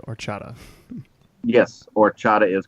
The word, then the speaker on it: horchata: is spelled correct but I believe the pronunciation drops the H we said or chata yes or Chadha is